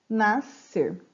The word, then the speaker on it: nascer: Nascer, porque você escuta apenas a pronúncia do C, né? Você não escuta a pronúncia do S. Então, parece que as duas letrinhas juntas têm um único som.